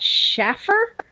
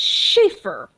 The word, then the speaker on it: Shaffer: maiden name they would ask me is that Shaffer no it's Shaffer okay it's not spelled like Shaffer Schaefer spelled s-c-h-a-f-a-e-r like no it's